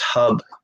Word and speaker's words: Hub: Is pronounced Hub, like in hubcap.